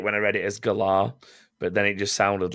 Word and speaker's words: Galar: It's the Galar region, as they've pronounced it. I wanted to say it when I read it as Galar, but then it just sounded like you great